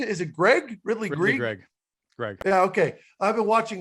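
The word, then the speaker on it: Greig: Ridley Greg.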